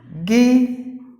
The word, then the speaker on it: Guinea: Guinea, meaning the letter U silent and the A silent, and the E is pronounced like E.